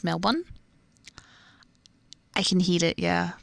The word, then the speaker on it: Melbourne: British friend the other day Melbourne here is pronounced Melbourne I can heal it yeah the suburb can